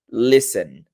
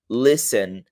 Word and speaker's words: listen: tá Listen não existe você não pronuncia o t a forma correta de pronunciar seria Listen Len vou até colocar